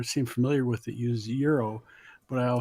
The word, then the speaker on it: gyro: a gyro mm-hmm but no it's from Greek it's euro but a wise I'm